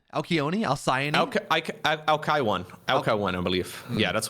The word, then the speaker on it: Alcyone: It's Alcyone? Alcyone? Alcyone? Alkaiwan.